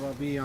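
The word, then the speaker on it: Rabie: My name is Ratib Rabia.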